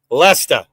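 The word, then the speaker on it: Leicester: break neck huh Laker it is leester like leester the molesta okay and even the English pronounce it like that like the ear ofer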